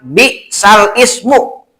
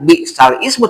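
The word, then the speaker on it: بِئْسَ الِاسْمُ: Quran akan menemukan kalimat bi'sal ismu dalam Al-Hujurat ayat 11 di Al-Quran. Coba dibuka. Ya, itu tulisannya bi'sal ismu. Nah, ini bahasanya naql. Seperti apa bacanya? Dibacanya tidak bi'sal ismu, tapi bi'salismu.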